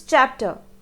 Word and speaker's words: chapter: you pronounce this word this is chapter which has the chill sound this word is pronounced